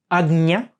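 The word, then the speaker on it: ājñā: yeah that means that this chakra that we usually call in in English Arjuna is actually product pronounced agnya or if you want to be a little bit less accurate agnya chakra okay um this is the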